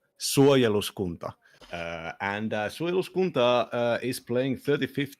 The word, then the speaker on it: Suojeluskunta: The name is pronounced Suojeluskunta. Suojeluskunta.